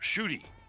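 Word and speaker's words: Ncuti: Who you know the the guy's name spelled NC UTI and probably somebody gave the you know pronunciation his name is pronounced shoy and I'm going there's um there there's no s or H in that name there's some missing letters there sure but from what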